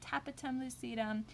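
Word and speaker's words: tapetum lucidum: so again that's the taped on lucidum again you can pronounce it tapatum lucidum and that is going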